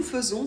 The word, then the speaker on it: faisons: Normalement, en français, A et I, ça fait plutôt est. D'ailleurs, je vous mets le lien vers ma vidéo sur le son est dans la description si ça vous intéresse. Ici, nous faisons, c'est une exception, on le prononce donc E.